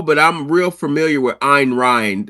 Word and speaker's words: Ayn Rand: Um, no, but I'm real familiar with Ayn Rand. It's Ayn Rand. It's Yeah, spelled I Ayn. always I pronounce it Ayn Rand.